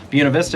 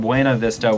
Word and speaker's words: Buena Vista: Buena Vista, as one of my viewers noted, is actually how the locals say it. So it's not Buena Vista, which I know is the appropriate Spanish pronunciation, but if you live